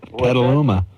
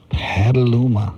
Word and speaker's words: Petaluma: How do you pronounce that? Petaluma. Petaluma.